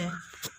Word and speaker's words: who: Next देख लेते हैं। साइलेंट एच को समझते हैं। एच is normally silent after W, एच is normally silent after W, बट इट is pronounced in हु।